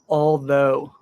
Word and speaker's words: although: This is just a word, but it's pronounced although, voiced th, although, although.